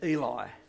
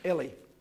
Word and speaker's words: Eli: the Bible and you say Eli we always pronounced that Eli okay well that's his name so I guess he knows how to pronounce it Ellie so I had chance down with Ellie for